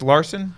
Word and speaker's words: Larson: get your name right is it pronounced larson been Larsa that's that's correct yeah welcome and what